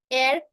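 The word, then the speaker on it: heir: आपको बताया था कि जब भी अगर एच शुरुआत में आता है या फिर एच किसी वॉल के पहले आता है तो उसका उच्चारण हम नहीं करते जैसे our honest एयर वैकल rhyme ghost ghost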